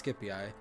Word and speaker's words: Scipii: Yeah, it's Scipii. I think Roman pronunciation is supposed to be C is said with a hard k sound, whereas the in Greek when you're trying to say Greek words, it's usually with a soft C.